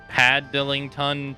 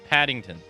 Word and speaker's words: Paddington: recall a single movie it's pronounced Paddington oh okay Paddington gotcha